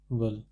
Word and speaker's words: veulent: elle ne voulait, ils ne veulent, this is pronounced as veulent, ils ne veulent pas de voiture, elles veulent des oranges.